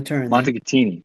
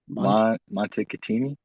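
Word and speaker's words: Montecatini: in dude I can't remember I can't even pronounce it all right well W definitely didn't go to turn Montini that's it say that again Monte katini okay montei all right so it's not it's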